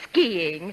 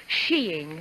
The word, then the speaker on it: skiing: purchased a very simple but stanning suit for skiing by the way it's pronounced sheing oh thanks a lot and they a skating